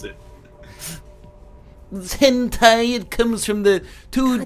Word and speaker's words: Hentai: Do you see that guy's name is Tom Clancy's Sum of All Hente?